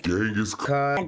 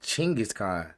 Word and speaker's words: Genghis Khan: The worst things Genghaskhan did to his enemies. I said Chingis Khan.